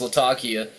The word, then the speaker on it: Latakia: He said it's technically should be pronounced Latakia. So that's probably the way it's meant to be. I say Latakia.